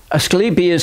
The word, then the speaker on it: Asclepius: the rod of asclepius asclepius has a long e in his name he was the Greek god of medicine and two snakes wrapped